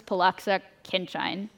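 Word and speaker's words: Pollaczek–Khinchine: The theory tells us to use the PK formula, which I think is pronounced as Poloxa Kinchin, but we're going to call it PK.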